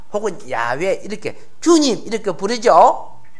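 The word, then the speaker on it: יהוה: 발음을요 엘로힘이라고 해요. 그 옆에는 예, 예호바, 우리 그렇죠? 지존자, 자존자, 스스로 계신 분, 영원한 자, 그리고 유다 민족의 하나님의 이름이 예호바래요. 우리는 어떻게 불러요? 여호와 혹은 야훼 이렇게 주님 이렇게 부르죠.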